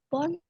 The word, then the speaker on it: phone: I have not buy a new phone. I have. Bentuk ketiga dari membeli apa? Buy it. About. Ya, bought. Kalau misalnya tulisannya phone. Cara bacanya apa? Pakai F. Jadi Phone.